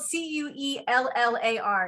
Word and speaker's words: Cuellar: cover u.s house rep from south texas henry cuellar yes i talked about last week and mispronounced his last name his last name is spelled c-u-e-l-l-a-r it's pronounced cuellar and he is the last pro-life